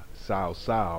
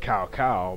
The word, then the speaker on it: Cao Cao: closer and closer to finally uh conquering uh sa sa or as I like to pronounce it cow cow but uh we we still have a bit